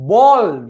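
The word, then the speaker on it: bald: में क्या कहते हैं बल्ड इसको कहेंगे बोल्ड तो अगर कोई क्रिकेट में बोल्ड आउट हो जाता है उसकी प्रोनंसिएशन और ये प्रोनंसिएशन सेम है है ना थोड़ा इंटरेस्टिंग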